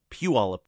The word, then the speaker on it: Puyallup: Rory Pitt's a real estate agent in Puyallup Washington that's right Rory I can pronounce it Puyallup just outside Seattle he asked a great question